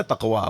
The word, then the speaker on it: تقویٰ: یہ جتنا گاڑھا موٹا لفظ ہے نا تقویٰ، منہ پھلا کے بولا جاتا ہے اگر صحیح تلفظ سے ادا کریں.